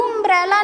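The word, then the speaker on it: umbrella: यू यू यू यू, इसका उच्चारण हम लोग यू अम्ब्रेला नहीं करते।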